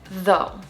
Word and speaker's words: though: You pronounce it though.